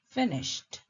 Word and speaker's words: finished: Notice the sound at the end of finished. We don't always get the hard D sound. Sometimes it can sound like the letter T.